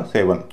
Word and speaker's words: seven: लेकिन बाद वाला जो हिस्सा है EN, इसको हल्का बोला जाएगा, इसको एन नहीं बोला जाएगा, क्योंकि किसी एक वावल पर स्ट्रेस होता तो उसके आसपास के वावल हल्के बोले जाते हैं। तो EN का उच्चारण हो गया अन, तो इसका उच्चारण होगा सेवन।